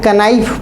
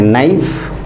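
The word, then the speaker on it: knife: लिखते हैं कनाइफ, पढ़ते हैं नाइफ।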